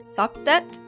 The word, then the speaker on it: Satet: of Sirius, the goddess, I said Sothis. And this is partially because I play too much Fire Emblem, but also that is the Greek pronunciation. The ancient Egyptian pronunciation is Satet.